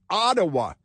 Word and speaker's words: Ottawa: um Justin Trudeau in Ottawa Ottawa it's pronounced like that otwa sounds like it's an incomplete thought let me be Crystal